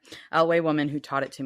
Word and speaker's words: Eyllwe: knew an uh I how do you pronounce it L I say l yeah okay laway woman who taught it